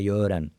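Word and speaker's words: Göran: Rio de Janeiro, disse: "Ah, brasileiro não sabe pronunciar Yoran."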